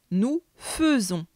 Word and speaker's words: faisons: nous faisons mais les lettres à i se prononce comme un e ce qui donne à l'oral nous faisons tu remarqueras aussi qu'à la deuxième personne du